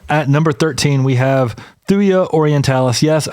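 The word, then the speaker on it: Thuja: number 13 we have thya orientalis yes I'm trying to say it correctly thya instead of thuga but you know it's still very weird to me a thuya orientalis van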